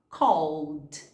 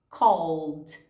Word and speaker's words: called: Então, no passado, a gente vai falar called, called. Cuidado para não colocar o som de I entre esse L e D e falar called, ok?